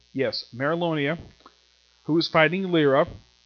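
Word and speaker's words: Mereoleona: we have merrill Amer he pronounced this woman's name it is Merrill Oh Nia yes Merrill onea who is fighting layer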